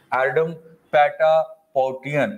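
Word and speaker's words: Ardem Patapoutian: 2021 में फिजियोलॉजी और the medicine 2021 अवार्ड मिला है डेविड जूलियस एंड एडम पैटापोटियन ऐसे करके प्रोनाउंस करेंगे दो में, इंग्लिश में थोड़ा अजीब हो जाता है ये, राइट।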